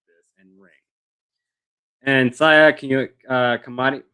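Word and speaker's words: Saya Kamitani: And Saya Kamati, how do you say that? Saya Kamatani And Yeah.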